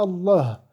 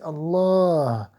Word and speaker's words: الله: celuilà et vous savez qu'il y a un Alif qui n'est pas écrit mais qu'il faut prononcer obligatoirement Allah c'est pas Allah c'est Allah bismillah y a Alif